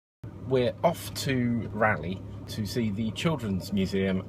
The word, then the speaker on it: Raleigh: Oh Valley ready wowie it's a rally that's how you say it we are now in